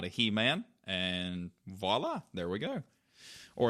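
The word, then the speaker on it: voilà: not a he-man and voila there we go or as Emily hates when people say voila she's like it's a V I'm like I know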